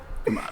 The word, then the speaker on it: Kumail: other things about Issa Rae, send us your pronunciation of Kumail Nanjiani's name.